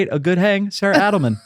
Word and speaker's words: Adelman: go ahead and say a good hang Sarah Adelman how are you oh my God you pronounced my last name correctly I know I